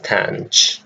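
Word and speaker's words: tanh: Then we have cos, just simply cos as the pronunciation. Then we have tang as our third.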